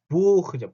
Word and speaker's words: Buch: 자, 이거 발음 어떻게 하죠? Buch죠.